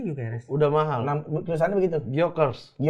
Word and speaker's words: Gyökeres: Itu bacanya Gyökeres.